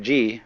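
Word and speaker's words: 事: The word Ji, which is Japanese way of pronouncing the Chinese Chur, is the world of things and events.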